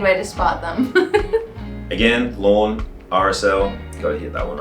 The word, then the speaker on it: Lorne: Lorne.